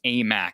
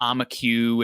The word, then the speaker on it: Aimaq: originally from afghanistan and that is how you pronounce his name far dawes a mac it's not amiku it's not a mac way it's amac all